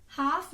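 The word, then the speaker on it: half: हाफ जब हम बोलते हैं तो L की साउंड नहीं आती, राइट, हाफ.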